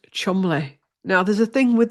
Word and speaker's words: Cholmondeley: and I said, did I call them chulmundalays? And it was Chumley.